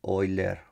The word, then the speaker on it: Euler: y las ecuaciones de hoy leer euler no en la pronunciación es así como un alemán no no tengo muy